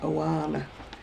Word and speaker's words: Oana: And then there's, I thought how you pronounce this word, it's Oana.